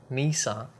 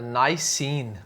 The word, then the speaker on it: Nisean: Nezha, I'm not sure what how to pronounce it but I normally pronounce it like Japanese do Nezha. Uh, Nezha uh nice scene. Okay, so I would say nice scene.